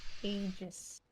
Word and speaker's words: Aegis: It is pronounced Aegis.